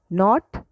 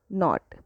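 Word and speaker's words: knot: Next नॉट नॉट। Okay? के silent होता है।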